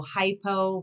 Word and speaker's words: hypo: So hypo rhymes with low.